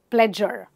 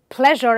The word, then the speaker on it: pleasure: Well, there are also words like pleasure, where people mispronounce it and say pleasure, pleasure. People don't know how to pronounce the j sound, the j sound. So it's pleasure and not pleasure.